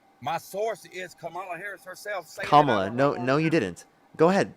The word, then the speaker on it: Kamala: I'm just trying to correct the pronunciation. Okay, Kamala Harris.